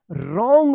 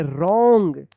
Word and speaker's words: wrong: WRONG, देखिए R से पहले यहाँ पे W आया है ना, तो क्या होगा? W जो है ना साइलेंट रहेगा, रॉन्ग पढ़ेंगे, रॉन्ग।